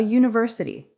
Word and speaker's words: university: For example, university starts with a letter that looks like a vowel, but the sound is a Y sound. So you say a university.